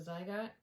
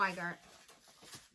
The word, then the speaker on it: Zweigart: I think I said it was a Zygot. Zweigot, however you pronounce it. Yeah, Zweigart.